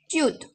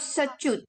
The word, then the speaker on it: च्युत: इस Sanskrit दशामुपगताश्च्युत is like how you say it is Okay. sada च्युत, it's not सच्युत. You know how you say it? च्युत.